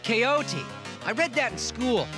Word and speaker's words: Don Quixote: a good book jake call don quixote that's pronounced coyote i read that in